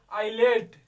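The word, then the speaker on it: islet: ठीक है, दूसरा देखो ये भी आया, आई एल के बीच में यस, क्या पढ़ेंगे, आईलेट।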